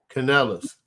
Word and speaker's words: Canales: How do you pronounce his last name? Craig. The Panthers coach? Canales? Yeah. Canales.